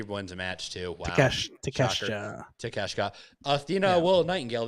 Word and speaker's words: Takeshita: So, also, I can't pronounce his name. Takashita. He wins a match too. Wow. Takeshita.